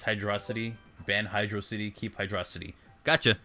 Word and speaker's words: Hydrocity: Okay, I pronounce it. It's Hydrocity.